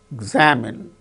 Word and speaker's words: examine: See, for instance, examine, examinee, examine. In the case of the word examine, second syllable gains stress.